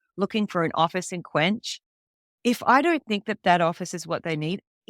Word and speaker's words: KWENCH: Like, when someone comes in looking for an office in Quench, if I don't think that that office is